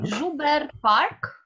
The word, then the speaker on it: Joubert Park: Joubert Park. Oh, that's how it's pronounced.